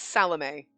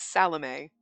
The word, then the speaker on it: Salome: It's Salome. That's how you pronounce that. I had to look it up because I was like, Salome? Like shalom? No, it's Salome. I'm pretty sure. That's what we're going with because that's the pronunciation that I found.